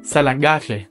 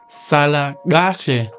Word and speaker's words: Sala: stay even in Zulu Sal which means stay well and is a way to say goodbye and you know in that one I also have an implosive Sal and also phonetically speaking